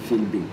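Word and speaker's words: Philby: s'appelle St John Filby les Anglais prononcent son Filby et il était un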